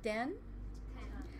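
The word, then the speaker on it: རྟེན: So say den. Yeah, it looks like ten, but it's kind of pronounced with a D.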